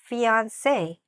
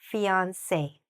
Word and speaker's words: fiancé: Fiancé.